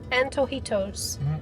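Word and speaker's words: Antojitos: how do you say an an toito yeah an toito very good was delicious we will definitely be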